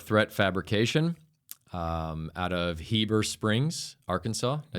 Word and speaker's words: Heber Springs: I'm joined by Andrew Roersonson of Dark Threat Fabrication, um, out of Heber Springs, Arkansas.